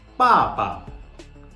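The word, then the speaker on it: 爸爸: Now, papa, papa. Okay, So in the first tone, in the first syllable, there is the fourth tone, and in the second syllable, it is the neutral tone.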